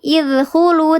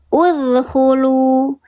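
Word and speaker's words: ادخلوا: Jadi bukan idkhulu, tapi uzkhulu, uzkhulu.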